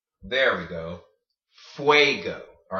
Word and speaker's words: fuego: before you'll know that Fuego is the word for fire okay so you see how you're making the way sound in there when you have a UND next to each other so wait go or another example that